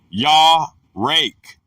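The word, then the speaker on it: יָרֵךְ: The word is yarek, pronounced ya-rake, from an unused root, meaning to be soft.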